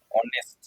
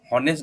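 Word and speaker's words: honest: তারপরে সে সৎ হবে, অনেস্ট, হনেস্ট নয়, অনেস্ট, এইটা উচ্চারণ হবে না, ঠিক আছে?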